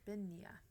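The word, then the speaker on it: bean nighe: more beans more beans it's two words if you're going to look up the pronunciation okay I'm ready um Bean okay and then the second word is n i g h e Ben benia benia okay so in Scotland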